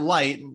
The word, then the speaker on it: Leicht: So it's Leicht, light like a light bulb, but it is spelled Leicht. So you can thank the Germans for that.